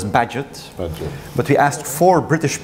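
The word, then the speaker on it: Bagehot: namely the financial settlement I almost wanted to pronounce the name of the column in The Economist which I think should be pronounced as Badgett but we asked for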